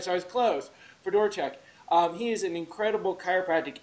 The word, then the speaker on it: Fedorchuk: Fedorchuk, and I'm hoping I pronounce it right. Fedorchuk. Fedorchuk. All right, so I was close. Fedorchuk.